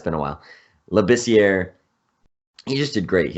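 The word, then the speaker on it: Labissière: Labissiere, I think he's French. I've heard that the R is in there though. Labissiere.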